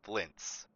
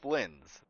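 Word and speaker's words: Flins: I'm hearing wrong, but it sounds like they're calling Flynn's as Flints, like with a T, but there's no T in how his name is spelled. So, am I hearing that wrong, or is is it like an auditory hallucination? I keep hearing flints, like, you know, like fire flint. But it's Flynn's.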